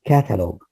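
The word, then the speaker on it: catalogue: you by the way this word is catalog gu it's similar to dialogue the g-u-e are pronounced as one sound so like what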